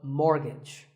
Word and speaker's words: mortgage: buy a house so which letter is silent here it's the T the first syllable is more and the second is gitch so mortgage number 27 is this